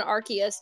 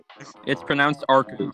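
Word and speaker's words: Arceus: attempts to call upon archus they Crea it's pronounced arus in surprised expression the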